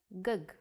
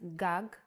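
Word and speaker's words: גג: see this word written you might want to read it as gug there is no vowel sound in Hebrew the vowels are often not written you would know that this word is pronounced gag because it has been taught to you before and this is why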